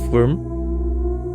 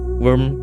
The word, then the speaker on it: wyrm: a modified version of worm even though the root of the word worm came from worm I know it sounds weird because all of them pronounce like worm the desert worm is